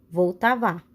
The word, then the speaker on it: Vltava: Em tcheco se chama Vltava, pronuncia-se Vltava, que banha a cidade de Praga, capital da República Tcheca.